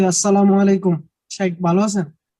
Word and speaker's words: আসসালামু আলাইকুম: নেওয়ার শুদ্ধ উচ্চারণটা একটু আরো একটা কোশ্চন শুদ্ধ উচ্চারণ আসসালামু আলাইকুম এটা হচ্ছে সালাম 10 আসসালামু আলাইকুম ওহমাতুল্লাহ 20